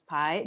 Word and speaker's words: Pi: My name is Pi. You spell it pie like math.